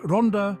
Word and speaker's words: Ronda: Ronda, pronounced Ronda in Spanish, is a municipality in Spain that belongs to the province of Malaga, within the autonomous community of Andalusia.